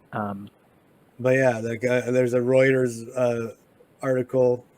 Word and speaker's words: Reuters: but yeah there's a Reuters uh article Reuters how do you pronounce that I think it's writers yeah uh us says